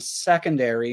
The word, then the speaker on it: secondary: seeing here is that for Zoe from the UK she would take out one of the syllables so she wouldn't say